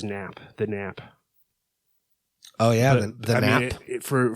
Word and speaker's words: NHP: we we just um we spell it in hp but we pronounce it as nap the nap oh yeah